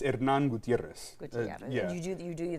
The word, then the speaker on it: Hernan Gutierrez: don't say your name so in spanish it's hernan gutierrez yeah so my my for my first name it's not a double r so it's not it's a subtle role but not a a hard role if that makes any sense how is that uh